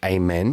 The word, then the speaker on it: Amen: I go, No, and I have to do the like the prayer, like amen, you know, like, and physically kind of gesture it in order, you know, to like communicate how my name is pronounced.